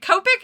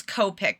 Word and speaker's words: Copic: If you break it down to like Japanese pronunciation, it'd be like Copic. And that's how Google says.